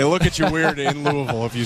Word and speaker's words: Louisville: 20 inside three and0 I like that you say it correctly Louisville well if you're not from Louisville you usually say Louisville right that's what a ton of people say but that's not the correct way you're a local they